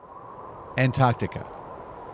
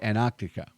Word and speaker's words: Antarctica: There's two T's in Antarctica, but Americans often say Antarctica. Like the first T is silent. Now, consonant clusters get simplified all the time, but I'm still going to pronounce both T's because it's the coldest